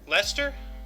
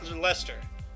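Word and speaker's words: Leicester: how they pronounce it Lester yeah like similar with mustache sauce Lester yeah it's it's written like that but it's called Lester that's a weird name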